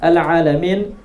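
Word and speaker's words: العالمين: Ini kesalahan yang kedua yang umum terjadi adalah mengucapkan huruf ain pada lafal al-alamin. Seharusnya diucapkan dengan huruf ain al-alamin, tapi malah mengucapkannya alhamdulillahi rabbil alamin.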